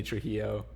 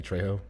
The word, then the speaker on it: Trejo: oh and wilson danny trujillo okay is it danny trejo i have no idea pronounce his name i think it's true i don't think there's an l in his whole name anyway go ahead to